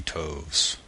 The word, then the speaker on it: toves: how to pronounce slithy Toves the i' in slithy is long as in writhe and Toves is pronounced so as to rhyme with grows again the first Oh